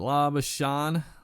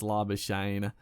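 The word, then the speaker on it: Labuschagne: it, and yeah, it's Labashane, I'm pretty sure it's just, yeah, doesn't need any sort of fanciness at the end of it, like I kept doing, but he's doing very nicely.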